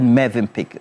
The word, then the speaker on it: Mövenpick: Phil Kese is wondering why I said Mövenpick. Well, I know that that's how it's pronounced.